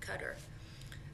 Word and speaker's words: Qatar: to a country called qatar some people pronounce it cutter but on the way